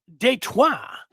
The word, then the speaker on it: Detroit: DTWA says, pronounce it Detroit, which is French, and are the ones who founded Detroit in 1701. Detroit.